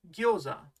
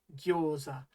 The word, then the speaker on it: gyoza: You and I both see that the English is spelled with an O and not a U, and yet the Japanese really should be gyo-u-za, gyoza.